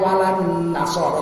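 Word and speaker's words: وَلَا النَّصَارَى: wala an-nasara. Cuman karena itu diwasolkan bacanya walan nasara, tapi tulisannya beda.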